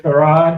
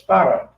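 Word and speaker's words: Fard: was pointed out that when you really pronounce it like it's supposed to be pronounced, it's Farrar, F-A-R-D.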